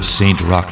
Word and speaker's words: Saint Roch: Scene 1: Roulette’s House Phantom 1: Deep below Saint Roch (pronounced like rock), Louisiana, all kinds of scum and villainy gather around a central fighting ring.